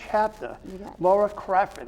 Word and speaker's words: Crafford: But with me right now is Laura Stafford. Did I say it right? It's Crafford. It's Crafford. What did I say? Stafford, I did it again. Crafford, Laura Crafford Okay.